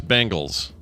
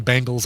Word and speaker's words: Bengals: I hear so many people pronouncing like the Cincinnati Bengals. I hear them pronouncing Bengals. I'm like, no, it's the Cincinnati Bengals. It's definitely an E in there, not an A.